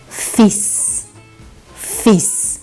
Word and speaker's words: fils: Então, o filho, a gente vai pronunciar fils, fils.